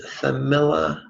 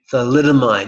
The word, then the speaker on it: thalidomide: This is a reference to dolphins and not the legacy of, how would I pronounce it? Thamilla. That was an anti-nausea drug given to pregnant mothers that created horrible birth effects. Thalidomide.